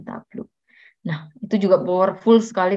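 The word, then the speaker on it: Tableau: boleh lihat di Youtube tulisannya cuman bacanya tabluk Nah itu juga powerfull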